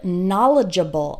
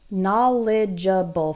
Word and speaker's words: knowledgeable: ja Baal okay and the stress is on the first syllable na na lei jebel